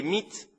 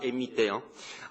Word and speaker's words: MIT: Pendant le mandat de Fidan, les mythes, je dis mythes parce qu'on le prononce mythe, on ne dit pas MIT, a massivement recruté des